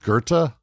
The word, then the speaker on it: Goethe: Why is there no R in? It's pronounced Goethe.